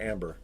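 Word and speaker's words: Ambré: a 2008 reef salt ombre is that is that how you pronounce that john or amber it's like like amber and that that denotes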